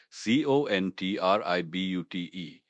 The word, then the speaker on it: contribute: C O N T R I B U T E. Pronounced contribute. Stress is on the second syllable.